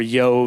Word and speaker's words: Job: to a man named job or yo if you were to pronounce it in the Hebrew who hails from the